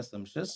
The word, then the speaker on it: sumptuous: तो उस शानदार के लिए एस से स्टार्ट होने वाला जो वर्ड है, वो हो गया सम्पशस, जिसका स्पेलिंग हो गया SUMPTUOUS।